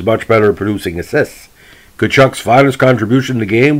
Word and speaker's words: Tkaczuk: seasons with the rangers the the club uh pronounced his name taychuk because derived rangers director of player personnel feds was easier to say than the correct pronouns and pronunciation kuchuk prior to the 79 season 70 season the